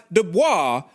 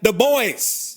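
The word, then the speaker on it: Du Bois: the same self-report as pronouncing this surname as Dubois rather than the boys is it pedantic no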